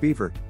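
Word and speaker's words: Biewer: viewer terrier if playful energetic and fun as you look into the viewer terrier pronounced beaver this cute breed of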